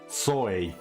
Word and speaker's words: Sohei: Sohei. That's the correct pronunciation.